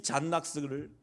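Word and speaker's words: John Knox: 이 잔 낙스라고 하면 낙스라고 해서 뭐 이거 아니라 이름이 존 녹스예요. 존 녹스. 발음을 하면 잔 낙스였어요. 이 잔 낙스를 성경을 보면서 이는 그들의 말씀대로 개혁하려고 얼마나 애쓴지 몰라요.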